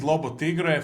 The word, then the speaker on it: Lobo Tiggre: And my guest today is Lotigra from the independent speculator. I believe no further introduction is needed. Welcome back, my friend. Thank you. And wow, Lobo Tigra, you actually pronounced it right.